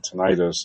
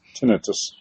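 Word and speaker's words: tinnitus: I have really bad what I recently found out is it's not pronounced um tonitis. It's tenetus.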